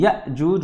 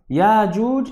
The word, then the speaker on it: يأجوج: And he says بالهمزة, يعني يأجوج with a همزة, مأجوج with a همزة, وتركه ياجوج and ماجوج. Both ways of pronouncing it are correct.